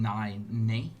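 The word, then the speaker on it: Nae: I thought you were saying nay.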